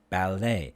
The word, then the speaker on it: ballet: and then it crochet ballet these are french words so the t is silent so the a a